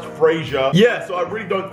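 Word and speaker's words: Frazier: That's how you spell my name, pronounced Frasier.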